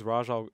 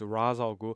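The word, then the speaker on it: Ra's al Ghul: I'm a cane guy you think it's Raja it's Ra's algo people were correcting me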